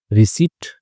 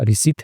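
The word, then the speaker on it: receipt: में कोई सबूत है रिसीप्ट ठीक है पी साइलेंट रहेगा रिसीप्ट है बैंक ट्रांजैक्शन यानी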